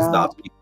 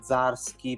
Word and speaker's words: Zdarsky: No, io non la dico, io faccio tipo Zdarsky, però cioè, mi esce, come se mi sveglio diversamente domani mattina lo pronuncio in maniera diversa.